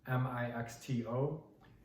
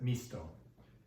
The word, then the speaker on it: mixto: Like if you had the word M-I-X-T-O, it looks like mixto, but you pronounce it misto.